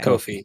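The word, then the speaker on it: Ko-fi: think it's pronounced uh kofi okay kofi yeah cause they they have a they have a tweet somewhere that's like uh kofir rhymes with no fee okay well you do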